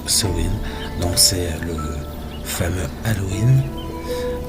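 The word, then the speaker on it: Samhain: ça peut être sen donc ça s'écrit Samain mais ça se prononce son donc c'est le fameux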